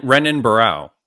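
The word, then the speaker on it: Renan Barão: B baral no what was that Ren renan renan baral right okay no no is that the UFC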